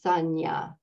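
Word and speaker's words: saññā: and the two n's have a that little wave symbol over the top of them which makes it sound you would say the second n like a like a y Sanya is how that's pronounced and Sonya is what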